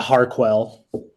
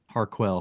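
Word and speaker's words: Harquail: Yeah, Harquell. Harquell. How do you spell that?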